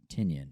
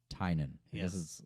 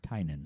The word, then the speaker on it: Tynion: It's not Tynion. It's Tynan. I guess it's Irish or something.